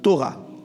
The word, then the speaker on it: Torah: Le mot loi ici, c'est un mot hébreu qui se prononce Torah.